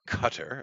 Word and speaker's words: Qatar: here's the real shocker Qatar or Cutter as some people say is the correct way to say it uh they kicked them